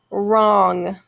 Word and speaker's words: wrong: and the next one wrong wrong w-r okay we don't hear the w but we hear that r sound so the w